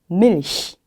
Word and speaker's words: Milch: 2번도 Milch 히 발음이 되겠죠.